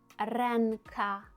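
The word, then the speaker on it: ręka: Наприклад, ренка. Ренка. Ми чуємо там чітко ен.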